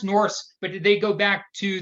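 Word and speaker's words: Nourse: Even before that, the great grandmother of these guys, of Nate, Tim, and Mary, was a lady called Rebecca Nurse, which is how they pronounce the name.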